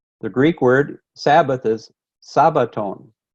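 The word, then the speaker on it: σάββατον: Greek word Sabbath is Sabaton because the Greeks don't have a Sh they only pronounce the S so Shabbat is Sabaton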